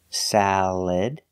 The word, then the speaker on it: salad: schwa salad sound salad you can use the air sound like eggs salad salad or the e sound like milk and this is salad just make sure you put the stress on the first syllable salad garbage example garbage